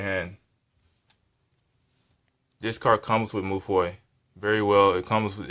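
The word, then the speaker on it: Mewfeuille: Madolche Moufoy. That's the French way of saying it, the real way of saying it. But some people call it Madolche Moufoli, but that's not how you say it.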